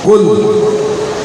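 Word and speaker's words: كُل: قلب مانے کتا, حالانکہ اتنا ہی فرق ہے چھوٹے اور بڑے کاف. کل اور کل, چھوٹے کاف سے کل کا مطلب ہے کھاؤ, اور بڑے کاف سے کل کا مطلب ہے بولو. دیکھا معمولی تلفظ سے معنی میں بڑا فرق پڑ جاتا ہے.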